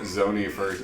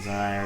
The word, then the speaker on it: Zonai: I'm impressed you got the name pronunciation first time immediately. I called it Zoni at first, which is ironically the